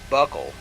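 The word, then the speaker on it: buccal: and two brachial greggio buckle pronounced like a belt buckle Bernard L like that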